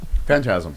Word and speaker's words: phantasm: Phantasm, yeah.